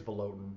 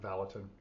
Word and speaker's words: Valotin: And I think it's Valotin, not Valatin, if I pronounced it wrong before.